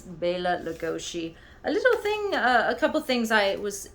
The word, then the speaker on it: Bela Lugosi: If you know the correct pronunciation, Hungarian pronunciation, it would be Bela Lugosi. Some people say Bela Lugosi, but it's Bela Lugosi.